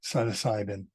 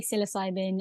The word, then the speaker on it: psilocybin: So how did you get so interested in psilocybin? Is that how you pronounce it? In America, they say psilocybin. In the UK, they say psilocybin, but I tend to say psilocybin.